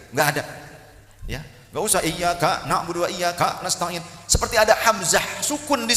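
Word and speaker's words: إِيَّاكَ نَعْبُدُ وَإِيَّاكَ نَسْتَعِينُ: Ada orang membaca bagian Al-Fatihah dengan salah. Ada yang bacanya begini, iyyaka na'budu wa iyyaka nasta'in. Apa dihentak-hentak gitu, ya? Jika lagu DJ, oke DJ gitu, ya kan? Tidak usah dihentak, iyyaka na'budu wa iyyaka nasta'in. Enggak begitu.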